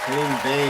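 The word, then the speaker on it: Henning Wehn: Henning Vane, that's how you say it.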